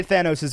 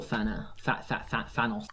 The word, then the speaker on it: Thanos: Casual Thanos. I still call him Thanos. Thanos, not Thanos, because Thanos sounds really weird from me.